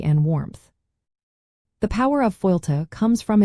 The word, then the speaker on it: fáilte: The Irish word fáilte, pronounced Fáilte, directly translates to welcome in English.